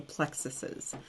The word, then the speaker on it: plexuses: start talking about the plexuses. Which is actually the right way to say it, even though it sounds ridiculous.